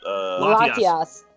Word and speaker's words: Latias: And Corn ZX, remember the time when Ash was kissed by, how do you pronounce that? Latias.